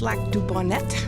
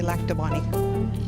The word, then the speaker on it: Lac du Bonnet: I know it's Lac du Bonnet, but we all say Lac de Bonnie.